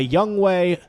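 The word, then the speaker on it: Younghoe: Atlanta Falcons the the famous uh young uh young Way co or ho uh what's his young young way is how you pronounce his first name cou is his last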